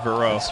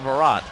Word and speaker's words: Vero: out and we determined the uh correct Floridian pronunciation bishop verad or Vero Vero and while that may not be the